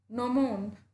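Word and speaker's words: gnomon: He explain some basic नोशन of geometry and introduce the sun dial नोमोन to Greece. यहाँ पे जी silent है.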